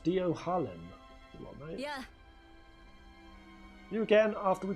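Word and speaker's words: Dohalim: It's pronounced Dio Harlem.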